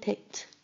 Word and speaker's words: picked: And picked ends with an ed, but you hear a t sound at the end.